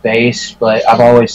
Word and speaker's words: Bass: is pronounced base because it's supposed to be base like the instrument or like the musical